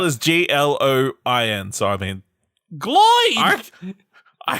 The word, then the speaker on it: Gloin: They had a whole scene in the last movie to The point way that it's spelled out. is Gloin.